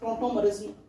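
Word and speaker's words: tautomerism: ठीक है, आपको याद आ रहा हो तो हमने पढ़ा था टोटोमरिज्म, टोटो नहीं बोलते उसे, टोटोमरिज्म, ऐसे स्पेलिंग होती है TAUTO।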